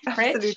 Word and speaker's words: Pretsch: Have I said that right? Pretsch, yes. Pretsch.